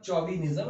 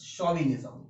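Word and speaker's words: chauvinism: आपको नए वर्ड सीखने को मिले हैं, इसका प्रोनाउंसिएशन भी इंपॉर्टेंट है, इट्स नॉट चौविनिज्म, इट्स शॉविनिज्म, ठीक है?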